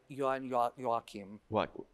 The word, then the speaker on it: Joachim: And then my violinist said, let me show you Brahms' violin concerto with, it was his name, Joachim, how do you pronounce? Joachim.